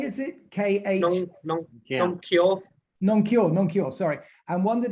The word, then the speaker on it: Nong Khai: I got north to Nong Khai, is it? K-H? Nong Kyo.